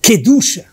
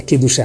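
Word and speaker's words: קדושה: Mas depende de quanto a palavra famosa queducha, santidade, no caso, a pronúncia certa é quedá, não queducha, mas tudo bem.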